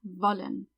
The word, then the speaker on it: wollen: Remember to pronounce every W like a V, wollen.